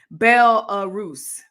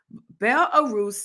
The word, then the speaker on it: Belarus: guys uh look um triggered you with my mispronunciation bell arrows thank you bel-arus in russia means friends of russia wow saying